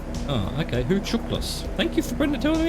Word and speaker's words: Hucuktlis: and gain a visual on Hucuktlis Lake, pronounced Huchuklis. Oh, okay, Huchuklis.